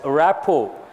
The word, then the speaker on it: rapport: who has the best rap oh here T is silent what is the word rap ho underline the word rap